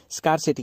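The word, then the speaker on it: scarcity: ठीक है, स्कार्सिटी की वजह से। कुछ लोग स्कार्सिटी कहते हैं, कुछ लोग इसको स्केर्सिटी कहते हैं, तो प्रोनाउंसिएशन में फ़र्क हो सकता है, मतलब दोनों का एक ही होता है।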